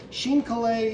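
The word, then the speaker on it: chine collé: this little photocopy here that i'm going to sheen kalei into this and it's helpful to get a little cardboard chip we have these little mat board chips and this is our nori paste sheen kalei is a vocab word sheen is c-h-i-n-e coli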